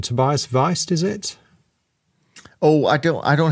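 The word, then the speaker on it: Wiest: correct my pronunciation, Tobias Weist, is it? Oh, I don't have it in front of me. It's W-I-E-S-T. Weist. So it's German, I guess.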